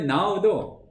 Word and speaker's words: know: 그러니까 영어의 now도 KNOW잖아요. 이게 이제 헬라어에 맞닿아 있는 이제 어간입니다. 이제 앞에 K가 묵음이 되지만 근어가 됐듯이, 뭐 꼭 써야지 아시는 건 아닐 텐데.